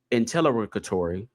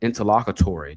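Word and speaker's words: interlocutory: to seek reconsideration or intelligatory. Oh, I mispronounced that word. All right, y'all. My bad. Interlocatory. That's what that that's how you say that word.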